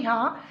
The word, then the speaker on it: who: तो अगर हम लोग इसको देखें WHO, तो WHO यहाँ पर लिखते तो W से हैं, लेकिन हम लोग इसका प्रोनाउंसिएशन क्या करते हैं? हु।